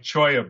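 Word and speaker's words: cholla: easy-to-use form so then you take something like Choya buds which is spelled CH o a CH o a ll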